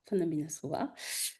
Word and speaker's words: Fanambinasoa: Alors donc je m'appelle Faninava qui ne se prononce pas exactement comme ça. Malgache. On va le faire comme ça, ce sera plus simple.